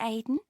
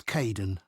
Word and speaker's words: Kaeden: Hi, Aidan. It's Caden.